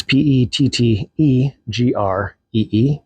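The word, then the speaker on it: Pettegree: Pedigree, that's his last name. It's not spelled like what you'd think it would be spelled like. It's Petteggree.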